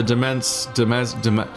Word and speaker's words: demesne: The demesne. Give me a second. Oops. Domain or demesne. Really? Domain or... It's just pronounced domain? So it's just an annoying spelling.